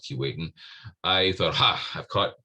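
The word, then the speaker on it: Keewatin: now the northwest territories and since it's normally pronounced kuwait and despite the way it's spelled that's properly pronounced key waiting i thought ha i've caught caught lamere i've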